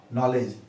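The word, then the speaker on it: knowledge: Example लिखूं नॉलेज का, के एन ओ डब्ल्यू एल ई डी जी ई, नॉलेज, तो यहां तो एन के पहले के आया है तो के तो साइलेंट है ही, साथ ही साथ यहां पे नॉलेज में जी के पहले डी आ गया है, जी के पहले डी आ गया है, इसको नॉलेजस डज, यानी डी और जी ई ऐसा नहीं पढ़ते हैं, यहां पे डी को हम साइलेंट छोड़ देते हैं।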